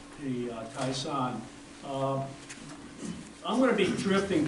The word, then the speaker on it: Toishan: Taishan is from what I've seen, it's a Mandarin way of saying it. Taishan is the Cantonese way of saying it, and Huishan with an H is the way the locals say it.